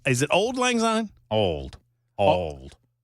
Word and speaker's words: Auld: Old. You got the official. Yeah. That's the official word pronouncer of the Matt Murphy Show right there.